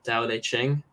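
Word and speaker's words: Tao Te Ching: the I don't know how do you pronounce it the Dao de Ching I think it is by loud zoo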